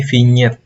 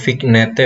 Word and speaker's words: vinyet: ilustrasi yang berikutnya ini vinyet yang ini kita bacanya finger bukan vignete bukan ya ini istilah aslinya itu berasal dari Prancisnya ringed ya bacanya vinyet unsur utama itu ada